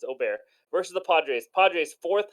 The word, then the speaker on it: Ober: go the first one Bailey o'bear I think that's how you pronounce it I know it sounds like really fancy but I don't think it's over I think it's Ober versus the Padres Padres